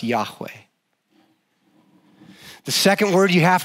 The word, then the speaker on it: Yahweh: Some people think it would be pronounced Yahweh.